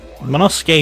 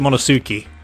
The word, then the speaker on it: Monosuke: Manusuke is not how I would put it. Definitely would pronounce it Monosuke.